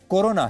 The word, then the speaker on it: कोरोना: लेकिन बाद में धीरे धीरे दुनिया समझी कि कोरोना और करुणा नहीं बल्कि ये कोरोना है।